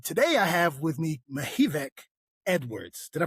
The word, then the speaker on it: Mihevc: And so I'm your host, and today I have with me Mihevc Edwards. Did I pronounce that right?